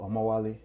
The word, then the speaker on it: Omawale: And I want to give a big shout out to Omawale. That's how it's pronounced, by the way, for Mm-hmm.